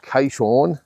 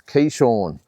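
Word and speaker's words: Keyshawn: I apologize for that it's not Kon it's Kean Kean Davis is his name okay just for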